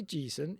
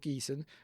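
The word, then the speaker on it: Geeson: And I say Gon even though I would have said Geon, but I watched interview with Gareth Thomas and that's how he pronounced it.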